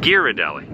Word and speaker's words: Ghirardelli: of want a coffee is it pronounced giardelli or ghirardelli ghirardelli ghirardelli now is this the